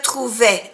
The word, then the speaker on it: trouvais: Je me trouvais, n'oubliez pas que je me trouvais, es a l'imparfait. Termina por A-I-S y se pronuncia E, E.